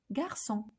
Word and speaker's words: garçon: Okay, so it alters the C to be pronounced as S.